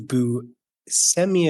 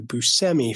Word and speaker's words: Buscemi: I wanted to wait to correct you guys on this, but Steve Buscemi, as you've been saying it, it's actually Buscemi.